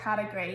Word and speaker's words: category: So there is a silent letter in this word, can you identify it? So it is the O at the end, so it doesn't sound like there's an O there, category.